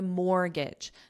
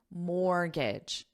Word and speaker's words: mortgage: car loan, or my mortgage. Notice this word has a silent letter. I'll say it again, mortgage. What's the silent letter? The T. There's no T in this, so it's mortgage, mortgage.